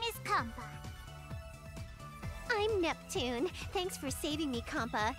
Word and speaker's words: Neptune: stuttering over the name Neptune is because in Japanese people can't pronounce p and t like in succession like that so it would be more like nepon and that was essentially